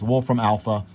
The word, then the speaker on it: Wolfram Alpha: what the word I was saying well it's Wolfram Alpha you could put all that into Wolfram Alpha and it will give you the integral